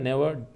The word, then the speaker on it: gnaw: तो फर्स्ट यहाँ पर के लेटर साइलेंट है। ओके, सेकंड ये नेवर, ये आपका दे रखा है नेवर डॉटर फाइट स्ट्रेट, यानी कि हम प्रोनाउंशिएट कर